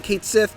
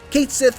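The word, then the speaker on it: Cait Sith: bit more detail and yes I'm saying Kate Sith because that's how they say it in the game don't come at me Kate Sith fights with a megaphone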